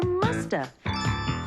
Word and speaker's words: must have: mean must have been we can say in conversation and sometimes we don't pronounce the v and so you hear musta she must have been